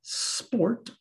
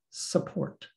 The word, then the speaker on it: sport: word sport sp ort if you were to insert a vowel sound between that and it might sound like support so you want to say sport what the native english speaker hears is support which is a different word let's practice listening to